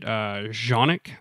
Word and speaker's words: Canik: for English, and so I'm going to say it Canik because it looks that way. But I've heard people pronounce it Janik.